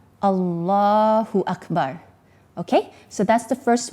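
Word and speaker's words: الله أكبر: The first thing, the translation is Allah is greater, or Allah is the greatest, and the pronunciation of the Arabic is Allahu Akbar. Allahu Akbar.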